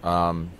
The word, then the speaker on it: Towson: Towson, is how you say it.